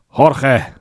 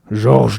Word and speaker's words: Georges: Jorge, there we go. Little Jorge. I mean, that's the Spanish pronunciation. What's the pronunciation in French / Occitan? Georges de Limoges. There you go, Georges. He might actually go in that direction here, right?